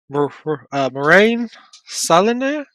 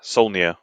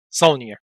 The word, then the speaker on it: Saulnier: Moraine Saline? You say that, you know French. Not real, it's Solnier. Saulnier.